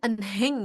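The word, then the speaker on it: 은행: Enggak apa-ngapa ini kan ee mungkin kita bacanya enhang ya atau eneng gitu ya. Ada hnya eneng. Cuma karena kembali lagi hi-nya itu dihilangkan ya, jadi dia langsung kita bacanya eneng gitu.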